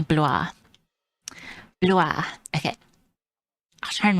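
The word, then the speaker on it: Blois: It's apparently bluer.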